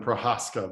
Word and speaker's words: Prochazka: Prochazka. Did I say that right? Close Not even enough. close? The C is silent, Prochazka, but yeah, close enough.